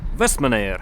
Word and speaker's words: Vestmannaeyjar: А по поводу правильного произношения названия этого острова спросил у девчонок на кассе магазина с мороженым, как правильно произнести. И они сказали, что остров называется Вестманэйр.